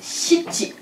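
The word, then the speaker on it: しち: Ou encore shichi. Qui pour notre bouche n'est pas le plus facile à prononcer.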